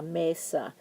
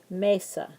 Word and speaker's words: mesa: Mesa a a la Mesa and you'll notice that Mesa is a two syllable word and whenever a word ends in a vowel like Mesa we're going to stress the first syllable Mesa so you're going to